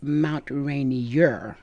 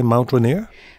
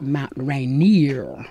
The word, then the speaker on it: Mount Rainier: the correct name if you're an old-timer is Mount Rainier and I always say it's Radio in Mount